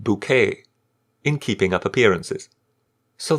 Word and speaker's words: Bucket: routage who excelled as hin bucket pronounced bouquet in keeping up appearances